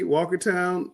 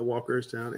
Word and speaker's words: Walkertown: All right, Shelby, Mount Ary, Walkertown. It should be Walkertown, not Walkerstown at Eastern Randolph.